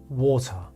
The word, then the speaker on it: water: we have two syllables this little symbol he means that the first syllable is getting all the energy so when you see something like that it means I'm getting all the energy Tata water water it's not water stress is super important